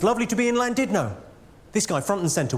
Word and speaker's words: Llandudno: It's Llandudno. In Wales, the double L is pronounced with a C.